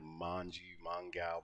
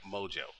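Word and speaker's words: Mongeau: Tana Mojo, thank you, Mojo. That's phonetically for me.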